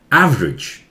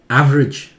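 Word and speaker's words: average: दिया इसे, temperature, temperature, ये एवरेज, ये ई भी बहुत क्लियर नहीं होता है, एवरेज भी ठीक है, एवरेज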